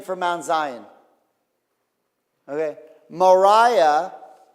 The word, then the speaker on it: Moriah: Moriah. Morah is teacher. Mora rhymes with Torah.